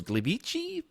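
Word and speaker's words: Gliwice: they get to host it and they chose Glee beachy they pronounce it Poland to be the host city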